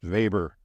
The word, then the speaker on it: Weber: He's a German sociologist. That's why it's pronounced Weber rather than Weber or Weber or something like that.